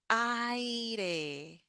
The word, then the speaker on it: aire: And then we have aire. The final sound is the e. Aire.